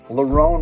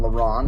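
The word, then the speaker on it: Lerone: the philadelphian hooyah song larone murphy don't call him lauren makwanomir connie mikhail olek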